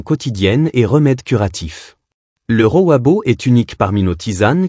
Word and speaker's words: Rooibos: Tisane numéro 5, Rowabo, le protecteur doux. Notre dernier trésor végétal est le Rowabo, prononcé Rooibos, qui vient des mots afrikaans signifiant buisson rouge.